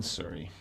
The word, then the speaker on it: Surrey: First made in Surrey. Okay. All right. So well And left. it rhymes with curry.